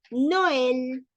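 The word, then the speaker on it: Noël: no el no el separamos y damos protagonismo a la o y damos protagonismo también a la e luego tenemos la el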